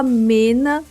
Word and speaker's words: Meena: um aviso rápido aqui eu vou falar Mena mesmo porque era assim que a gente fala no Brasil eu sei que muda um pouco a pronúncia de acordo com a dublagem mas como no Brasil a gente falava Mena nesse vídeo eu vou pronunciar dessa forma tá Mena dividindo a manga